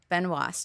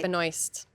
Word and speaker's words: Benoist: tell me for sure I think you pronounce it Ben was right Benoist Beno it should be benois but I I saw